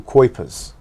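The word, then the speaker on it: Cuypers: a man called michael kuepers who actually wrote and his surname is spelt and not as not as it sounds c-u-y-p-u-r-s something like this who's who writes about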